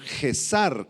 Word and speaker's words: Gesar: Y los adivinos del arameo Gesar con Z y acento en la A. Gesar eran quienes declaraban supuestas profecías acerca del futuro.